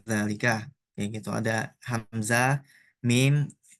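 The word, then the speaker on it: ذلك: Nih, misalkan kalau ada dal, lam sama kaf, oh bacanya dzalika.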